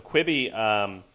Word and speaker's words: Quibi: So Quibi, is that even fucking how you say it? Quibi? Yeah, that is.